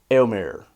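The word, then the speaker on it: Éomer: much in a sense I think the correct pronunciation will be more like elmir so it's like you say it so fast that it's basically one syllable and basically sounds like one sound even though it's really not so elmir failed in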